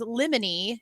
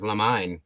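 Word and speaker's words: limine: like a legal term apparently the way you say this word is lemony and now all I can see is Lemony Snicket every time I read that word I thought it was La mine yeah me too that's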